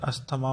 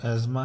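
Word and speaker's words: asthma: है सांस की बीमारी जिसको हम आम तौर पे अस्थमा पढ़ते हैं, लेकिन इसकी प्रोनाउंसिएशन जो अंग्रेज़ी में है बेटा वो एज़मा है, ठीक है।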